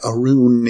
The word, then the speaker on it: Arun: Like Arun is like it rhymes with cartoon.